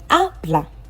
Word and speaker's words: habla: Habla. I've deepened the a because that's where the stress is. It is the last but one syllable. We have two syllables here. Habla.